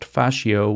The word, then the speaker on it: fascio: You know, like the ropes or the strings that you would use to bind together a bundle of sticks, which in Italian is pronounced fascio, which is the root word for fascism.